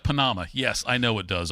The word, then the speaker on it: Panama: He thought it was Panama. I had to tell him it was Panama. And then he said, like with an L, Panama. I said, no, Panama. He said, looks like Panama.